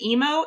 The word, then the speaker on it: Imo: It's called the, I think it's pronounced the emo incident.